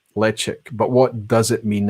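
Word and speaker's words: Ledaig: Tobermory spitted expressions are branded let check or leaching depending on how you want to pronounce it Lech ik but what does it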